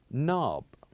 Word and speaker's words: knob: with K and N we kept the letter K silent yes we do write it but we keep it silent so the actual pronunciation of this word is knob knob this is how we pronounce this word knob as in door knob now let's listen for